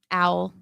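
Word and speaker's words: Auel: owl. Owl. Yeah, it's spelled it's Did you know pronounced owl like the bird.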